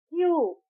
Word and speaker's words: queue: क्यू क्यू की spelling है क्यू यू ई यू ई। बट हम इसे प्रोनाउंस करते हैं लेटर क्यू। इसमें यू ई यू E silent है।